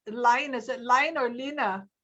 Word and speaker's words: Line: how do you pronounce line? Is it line or Lina from Norway? L-I-N-E. How do you pronounce Lina. That? Lina.